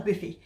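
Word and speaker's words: Boofi: a lovely buffet restaurant it's spelt b-o-o-f-i but it's a boofy and we all met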